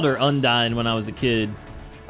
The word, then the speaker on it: Undine: Japanese pronunciation of Undine. I expect nothing less while here. Apparently it's Undine is the correct English pronunciation.